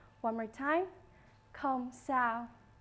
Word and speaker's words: không sao: No problem in Vietnamese is pronounced không sao. One more time, không sao.